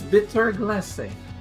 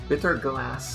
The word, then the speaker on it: Bitter Glace: The E is pronounced. I know because I've seen how her name is pronounced in Japanese. I've seen the katakana. It's Bitter Glace.